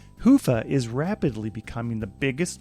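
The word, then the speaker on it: Hyvä: talk Commerce is sponsored by hia or as the Europeans say Hua or the right way to say it Hua is rapidly becoming the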